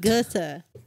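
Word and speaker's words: Goethe: Thank you to the Gota Institute Gota.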